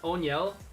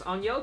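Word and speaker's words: Oneil: guys know this that his name is pronounced onel I was playing MLB the show a couple weeks back and the announcer goes onel Cruz for the Pirates I thought it was O'Neal this whole time so that's a little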